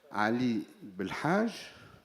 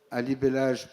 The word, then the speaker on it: Ali Belhaj: Alors, je m'appelle Ali Belhaj. Alibellage pour ceux qui ne prononcent pas le H et en parlant d'âge, je suis jeune retraité de l'enseignement supérieur.